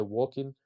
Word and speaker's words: walking: Remember, you pronounce with an O and you don't pronounce the L. So you say walking paper. Walking is like talking.